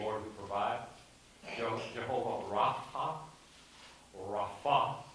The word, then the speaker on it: Rapha: Jehovah Rapha, Rapha is really, the accent is on the second syllable.